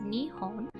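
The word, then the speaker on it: 日本: The word is pronounced Nihon, with ni being the first kanji and hon being the second.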